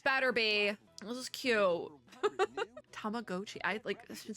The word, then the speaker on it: Tamagotchi: Wait, it's Tamagotchi? No. I've been saying it wrong my entire life. I guess, no, that would make sense because Tamago.